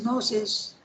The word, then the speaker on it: gnosis: English for the noses also you don't pronounce the G now you compare that